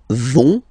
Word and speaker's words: vont: So, ils vont, final T, not pronounced. Ils vont.